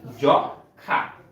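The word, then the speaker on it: যক্ষ্মা: যখা দেখ এইযে আবার যুক্তখ আছে এর সাথে ম আছে ফলে এখানে কিন্তু উচ্চারণটাই হয় নাই আমরা উচ্চারণ করি কি জখা আমরা উচ্চারণ করি জ খা দেখ এখানে কিন্তু ম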